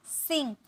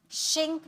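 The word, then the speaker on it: sink: डूबना, सिंक, शिंक मत बोलिएगा, सिंक, सिंक होता है, ओके। एक मिनट, इसकी प्रोनाउंसिएशन सिंक, इस तरीके से आपको बोलना है, सिंक।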